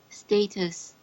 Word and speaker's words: status: Status. My dear, it should be status. Status. Yeah, it's a short A.